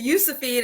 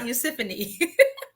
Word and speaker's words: Josephine: It's Josephine and not Yusuphine.